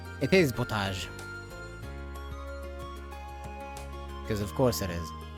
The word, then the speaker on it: potage: It is potage cuz of course it is. It's derived from French so they have to be weird about it.